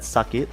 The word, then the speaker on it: Sak8: Well, apparently it seems like Sak8, which is actually pronounced as Sakit if you are Malay, which actually means pain for those international people, or hurt in the Malay language.